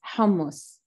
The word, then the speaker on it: hummus: Last question, last but not least, hummus. First of all, say it. Say, how do we pronounce hummus?